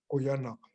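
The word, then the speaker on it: Qujanaq: Oyanak.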